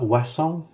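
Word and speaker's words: Ouessant: They are Wesson, which is from Okay. a little island, or the Ile de Wesson of the coast of Brittany in France. Spelled with an Um, O. Starts with an O, right? it's O U no OEUSSANT. Okay. I Yeah, think that's that's what it is. right. OEU, yeah. That comes from the French for west.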